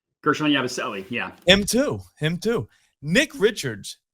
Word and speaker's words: Gershon Yabusele: Gershon Yabusele, yeah.